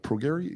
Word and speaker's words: Prograis: Prograis? Yeah, Prograis Spence. That's how Spence pronounces it.